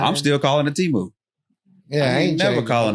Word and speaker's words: Temu: Speaking of marking down prices, man, I did not know I was mispronouncing Temu this whole time. Neither did I. Temu. English mispronounce everything, you know. Well, they should have told us. Yeah, we were just out here assuming because they didn't let us know. They should have put it in parentheses. T-E-M, Tim.